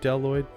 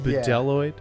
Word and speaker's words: Bdelloid: the deloid rotifer I'm there's a b at the beginning of that first word deloid deloid um it's not pronounced